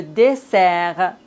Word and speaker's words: dessert: On ne doit pas prononcer S final. T comme le concert. Le dessert.